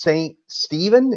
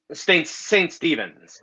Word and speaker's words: Saint Stephen's: I'm pretty sure it's Saint Stephen. Is that how it's pronounced? Saint Stephen? Saint Stephen's. There's an S on the end, but yeah, you're Okay, correct.